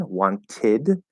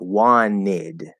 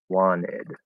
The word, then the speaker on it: wanted: d faded weighted okay with want we can actually apply two rules it's supposed to be wanted which is the full pronunciation one tid but we can apply the nt plus vowel connection rule where the t disappears and we get one nid okay so it's actually gonna sound like wanid so now the n